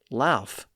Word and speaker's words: laugh: But Sir Thomas Smith writing in 1568 recorded laugh as an alternate pronunciation. So we know it was around by then. Shakespeare's poems and plays confirm the F sound at the end because he rhymed the word laugh with other words that ended in F.